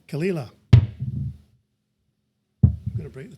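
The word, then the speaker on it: Caol Ila: Kala. Kala.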